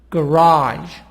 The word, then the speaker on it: garage: track track traffic traffic raj garage so here stress on part number two the sound is higher on the second part on the second syllable garage raj police police po